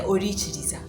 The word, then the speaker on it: Orikiriza: So when I know that it's KI, for me, I pronounce it as Chi. And for you in your language, KI is pronounced differently. So you put a C to make sure that you don't miss out the real pronunciation. So you know if you put a CHI, it will still be Chi. So you will say Orikiriza.